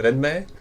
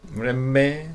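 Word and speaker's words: 連盟: So other thing we watched is Haibane Renmei. Yeah, you're not saying it right. Renmei. Renmei. Like the NM nasal thing.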